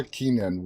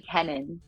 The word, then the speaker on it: Kennon: uh Lynch and Laura Keenan welcome guys how are you all doing tonight great thanks for having us yeah it is my also my last name is actually kenon sorry sorry I butchered